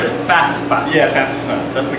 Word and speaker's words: FAFSA: Make sure you pronounce it FAFSA.